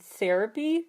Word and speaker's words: Airapy: It's called Therapy, but it's spelled like the Airapy, A-I-R.